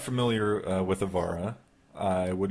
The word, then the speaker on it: Avara: This is the 20th anniversary of Avara, or Avara, or Avara, however you like to pronounce it. Avara. There you go. Spoken by a real-life Finnish person. The definitive. He knows what he's talking about.